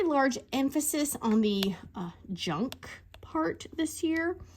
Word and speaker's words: Junque: emphasis on the uh junk part this this when they write it they spell it junk j-u-n not KU q-u-e you know to make it look like fancy yeah it was it